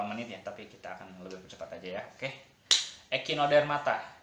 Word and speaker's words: Echinodermata: ya tapi kita akan ekino dermata ini dibacanya echinodermata ekino dan matanya berasal dari